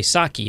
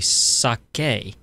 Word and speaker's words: sake: found out that uh the majority of Americans mispronounce we say Saki and it's actually sake okay and it and sake is simply a